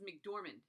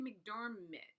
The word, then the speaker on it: McDormand: here and it is it's Frances McDormand mcdorman I would say McDermott say it wrong so sorry Frances if you're watching sorry I always say your name wrong but anyway Elizabeth's tract